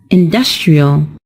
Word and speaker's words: industrial: pronounce it as industry when we turn it into an adjective the stressed syllable is also changed and it's pronounced as industrial we are affecting the